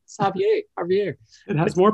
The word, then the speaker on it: Xavier: going to say it's javier castellanos okay spelled with an x which makes it even more complicated but you know it's it's like the j spelling which most people yeah